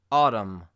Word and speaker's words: autumn: Now, the letter N in some MN combinations will be silent. For instance, column, autumn, or hymn.